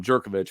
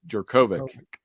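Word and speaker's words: Jurkovec: or I pronounce Phil I've been calling him Djokovic but apparently it is jerkovic so I screwed that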